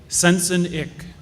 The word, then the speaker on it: Sensenich: First, just how do you pronounce our company name? Sensenich, old St. Nick.